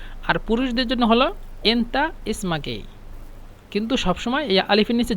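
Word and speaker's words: اسمكِ: ভাই বলুন তো এখানে ইসমাকি এভাবে জিমাক এখানে যেহেতু আমরা ইসমাক বলি কিন্তু এটা পুরুষদের ক্ষেত্রে বলি ইসমাকি বলবেন কিন্তু এই কিটা হাইড করা হবে মানে বেশি উচ্চারণ হবে না যে এভাবে বলবেন নাতি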